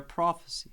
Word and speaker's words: prophecy: Prophecy. Prophecy. Definitely stress on the first syllable, pro, and unstressed on f. Is usually pretty unstressed, that schwa sound. That's the name of the sound. Is called a schwa.